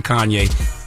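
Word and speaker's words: Khanye: man was 20 years old his name was Kanye but it's spelled k h a n ye e he's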